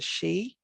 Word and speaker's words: sidhe: a fairy now a shiog or just the she and shiog would be like it's kind of